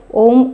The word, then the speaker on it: ওম: করবো চোখ বন্ধ করে ওম উচ্চারণ করবো প্রথমে বুক ভরে শ্বাস নিয়ে নেব তারপরে আস্তে আস্তে শ্বাস ছাড়বো ওম উচ্চারণের মাধ্যমে এই ওম উচ্চারণটা করবো তিনটি ভাগে অ প্রথমে করবো অ এর উচ্চারণ তারপরে অ থেকে চলে